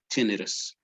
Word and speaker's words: tinnitus: this term which is tinnitus in english is pronounced this way tinnitus okay which is uh can anybody tell me